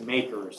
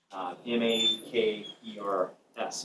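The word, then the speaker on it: MACRS: It's referred to as makers. So m a k e rs is the way I would pronounce it.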